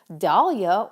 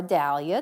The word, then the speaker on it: Dahlia: Hi everyone, this is and I'm excited to be guesting for the Altenew Dahlia or Dahlia, depending on which area of the globe you're from, how you pronounce that, blog hop.